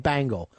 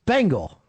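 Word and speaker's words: Bengal: why you keep saying bangle why don't you come in walking like an Egyptian how do you talk about how do you say it it's bangal bang not bangle Bangals are the [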